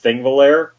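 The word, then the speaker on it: Þingvellir: English language, I guess, but it's pronounced with a TH at the beginning.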